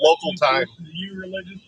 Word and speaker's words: Local Thyme: It's called a pub called Local Thyme. Spelled like the like the herb, t h y m e.